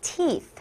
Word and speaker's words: teeth: One tooth, many teeth. 따라해볼까요? Teeth. Teeth. 친구들 이거 조심해야 돼요. teeth 아니고요. th는 혀가 보이게 라고 발음하는 거예요.